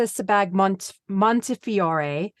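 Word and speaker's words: Sebag-Montefiore: the New York Times and I hope I pronounced her name right it was it was done by Clarissa sebag Montefiore and I'm sure I've said that wrong so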